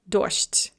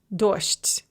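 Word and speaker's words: дождь: most common example is the word doged reign which is normally pronounced dorst so that soft de at the end is going to be pronounced as a and then it's going to devoice the je as well which will become a sha so dogged becomes dost and as a side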